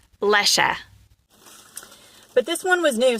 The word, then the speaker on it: Lesche: It's German. And they said it's Lesche with a short E at the end. Lesche.